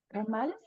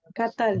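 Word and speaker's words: קטל: Entonces, ¿cómo se pronuncia esto? Catal. Catal. Catal, efectivamente.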